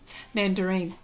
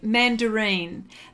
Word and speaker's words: Mandarin: she can't pronounce Oh mandarine I I say mandarine but it's Mandarin Mandarin Mandarin Mandarin Mandarin